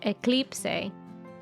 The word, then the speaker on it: eclipse: this word written down down in Spanish it is spelled exactly the same as it is in English eclip eclip excellente that is Eclipse before we go